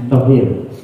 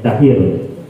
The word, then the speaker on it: Tahir: Tohir. Tohir Bu? Tahir ya dibacanya, Tahir.